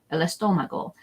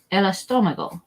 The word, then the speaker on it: el estómago: to learn is the stomach or the tummy, el estómago. So this literally means stomach. It does not mean tummy. There's another word for that. We're just going to do estómago. El estómago.